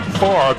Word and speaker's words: Favre: No relation to Brett, and as people will tell you here in Mississippi, the name Favre in Mississippi pronounced the same, even spelled differently, as much like Boudreaux in South Louisiana.